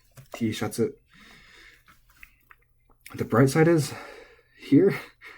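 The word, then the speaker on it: Tシャツ: T-shatsu, I believe, is accented on the sha. Let me make sure. Ooh, I was wrong. Okay. This word is flat. T-shatsu.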